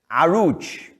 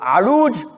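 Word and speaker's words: Oruç: engl arabic it's but the way it's spelled is completely different from the way it's pronounced this is turkish spelling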